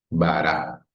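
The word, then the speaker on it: בָּרָא: y la vocal A, Bara. Por lo general, las palabras en hebreo llevan la acentuación en la última sílaba, pero este símbolo de cantilación también nos ayuda a saber que ahí va el acento.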